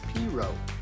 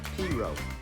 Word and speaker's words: Perot: in Louisiana and said you pronounced the name as pero as in cornrow cotton R pero another part of the family came to America through Philadelphia and used the more formal pronunciation of pero one family member went to Bermuda and became the first postmaster in that Island there they called him parat when he arrived at